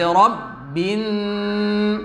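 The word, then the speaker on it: ربِّ: Kemudian yang berikutnya yang kadang masih terlupakan adalah menahan gunnah di huruf nun bertasydid. Bi rabbin, seharusnya seperti itu. Tapi kadang sebagian di antara kita membacanya gunnahnya kurang.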